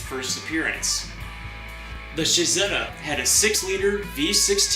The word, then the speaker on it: Cizeta: his own car company Shahzada is the Italian pronunciation of Claudia's initials cz Claudio can be seen